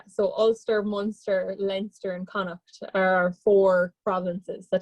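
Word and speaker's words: Connacht: province is galway in connect say it one more time it's a very strange it's spelled terrible too and tonight so yeah like c-o-n-n-a is kind of how you'd pronounce it i guess yes yeah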